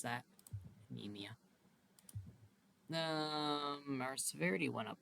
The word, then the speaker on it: anemia: a bit and Skittle has mutated and developed anemia that's how you pronounce that anemia um our severity went up a little bit